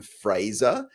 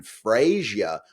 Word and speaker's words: Fraser: So Ben has something of a long-running history of refusing to say Brendan Fraser and instead saying Brendan Frazier, which is not his name. And even though I'm not Brendan Fraser, it upsets me.